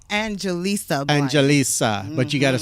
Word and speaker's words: Angelisa: I don't know why I wanted to say Angelina, but I put it in properly. You're not the only one. You're not the only one that says my name wrong, but it's Angelisa.